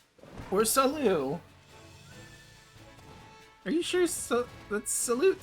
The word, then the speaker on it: salut: You may say good morning or hello as a greeting, but people from elsewhere may say bonjour or salute. You don't pronounce the t or saloo.